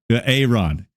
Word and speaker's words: Aaron: How do we pronounce this name here for this guy? I believe it's Aaron. Aaron.